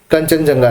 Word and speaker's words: Kangchenjunga: 2016 में Kangchenjunga, which is obviously हम उसका pronunciation करते हैं कंचनजंगा नेशनल पार्क, तो ओरिजिनली उसका स्पेलिंग होता है Kangchenjunga, that was declared in 2016 as World Natural Heritage Site.